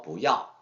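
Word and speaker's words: 不要: 근데 여러분, 이제 아까 그 배울 때는 뿌서 이제 강하게 발음했었는데 여기서 바랄 때는 부어 올리잖아요. 이것은 여러분 이제 성적의 법칙 때문에 그런데 이제 뿌 이하고 뿌하고 중고에서는 약간 성적 변화가 있는데요.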